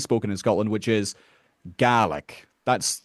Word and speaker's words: Gaelic: In Scotland, that word is pronounced GI because it's referring to the language of GR, the language that was spoken in Scotland and is spoken in Scotland, which is GI.